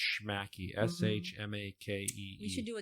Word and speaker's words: Shmakee: pronounce it they're not quite sure but it's pronounced schmacky s-h-m-a-k-e we should do a jingle I know